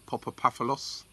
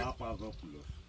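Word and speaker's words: Papastathopoulos: very likely that Socrates, should I try and pronounce the surname? Papapaphalos? They're waving behind me and they say, no. What is it then? What is it? Pronounce it. Papavopoulos.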